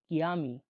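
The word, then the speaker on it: chiami: কমেতি কিয়ামি। কমেতি কিয়ামি কমেতি yummy. মানে তোমার নাম কি? সি এইচ আইতে কি উচ্চারণ হয়ে থাকে।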